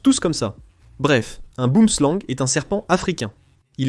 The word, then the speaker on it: boomslang: Ça ne se prononce pas boomslang, ça se prononce boomslang, ou peu importe, n'est-ce pas ? Je ne le dis pas comme ça parce que je n'ai pas l'accent sud-africain.